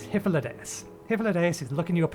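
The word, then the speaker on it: Hythlodaeus: remember the pronunciation because i still want to pronounce the first bit high no it's hyphalades hippolytus is looking you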